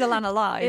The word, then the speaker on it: Alanna Lyes: It is Alanna Lyes, isn't it?